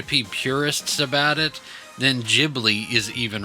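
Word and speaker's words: Ghibli: and he says that it is jibli not Gibli and I I've heard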